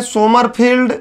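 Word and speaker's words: Sommerfeld: सोमरफील्ड, सेमरफील्ड, सोमरफेल्ड सब ठीक है, मैंने सोमरफेल्ड लिखा है।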